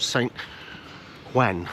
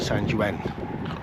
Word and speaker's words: San Juan: of Alicante, which is called San Juan, I think it's pronounced, or it's St John or Juan or something along those lines.